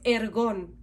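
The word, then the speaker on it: ἔργον: Su pronunciación en griego es ergón.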